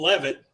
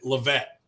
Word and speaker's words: Levitt: moore's our guest him and his buddy daniel levitt it is levitt i know you know that i like to pronounce people's names right or is it lavette it's love it's levitt you got it love